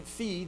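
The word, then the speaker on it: φ: So then phi then is essentially an unvoiced P with aspiration. Ha. So it's kaha, taha, paha.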